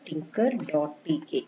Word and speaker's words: Tkinter: The spelling is like this, Tkinter, that the pronunciation is Tinker only.